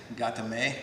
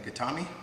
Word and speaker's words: gatame: hold and you might hear that i say gatame rather than katami right katami is something you hear quite often